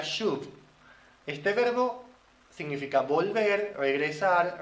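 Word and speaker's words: שוב: vienen de Raíces de un verbo que se pronuncia shood este verbo significa volver regresar retornar o sea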